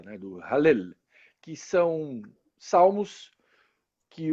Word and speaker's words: Hallel: Eu falava Halel, e ele me ensinou. O Daniel é um cara profundo conhecedor da palavra de Deus, um estudioso, e ele me ensinou a pronúncia correta, né, do Hallel, que são salmos que